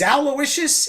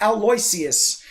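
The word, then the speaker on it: Owlowiscious: continuous misspelling of Aloysius, because it is Aloysius, it is not Aloysius.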